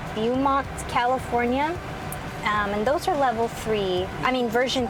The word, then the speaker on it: Beaumont: So I'm actually going to cancel these suggestions and route myself to, I think it's pronounced Beaumont, California.